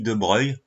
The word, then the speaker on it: de Broglie: une expérience par louis de broglie qui se prononce louis de breuil me demandez pas pourquoi ça s'écrit bobo glee mais se prononce de breuil il propose en 1923